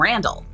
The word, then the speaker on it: Randele: Randall I'm Randall oh Randall not randel sorry Randall no nobody nobody says it the Randall cu the way it's spelled e e I would thought yeah Randall but Randle okay so he left